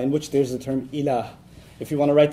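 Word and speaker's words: إله: la ilaha illallah, in which there's the term ilah. If you want to write that in English, it would be I-L-A-A-H, ilah. It's pronounced pretty easy to pronounce in English, okay?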